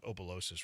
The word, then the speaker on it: Opelousas: How do you spell it again? I don't know. Opelousas. Yeah, there's 100 different spellings of Opelousas right now.